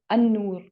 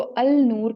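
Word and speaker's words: النور: जैसे कि नॉर्मली अल्लाह सुब्हानहू तआला का जो नाम है अल अन-नूर, उसको अल नूर कह दिया जाता है, अल नूर, जो कि एक बड़ी मिस्टेक है। तो अन नूर वो करेक्ट प्रोनाउंस होगा।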